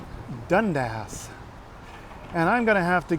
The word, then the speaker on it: Dundas: So I've been on the King streetcar, but the King streetcar goes up to, not Dundas, Dundas.